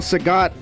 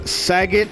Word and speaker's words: Sagat: then what's even worse some people call sagat uh saggit or sagad it's like come on oh wow that was